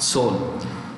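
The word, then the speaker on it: Seoul: what is it so the east side it's pronounced soul the president is uh okay from there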